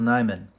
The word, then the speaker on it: Nyman: so excited about it Michael nyman or I think it's Neiman that's how you pronounce it he did the soundtrack